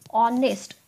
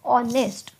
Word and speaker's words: honest: harnessed okay it is honest the H is silent here so the sound which is coming from honest itself is oh honest so what you are